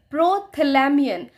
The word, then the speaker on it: Prothalamion: इसका उच्चारण है प्रोथैलामियन और यह एडमंड है।